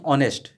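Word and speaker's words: honest: ठीक है, अब यहाँ पे एच है, हम लिखेंगे एन ऑनेस्ट, एच साइलेंट है, ओ की आवाज़ निकलती है, ओ, ऑनेस्ट, ऑनेस्ट।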